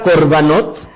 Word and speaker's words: korbanot: el singular corbán Qué significa corvanov en realidad se escribe con kof reshvet esta palabra corbanot bien Se podría traducir al español como ofrenda